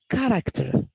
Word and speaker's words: character: in here we have character so you see ch in here is not pronounced as she it is pronounced as character okay we may find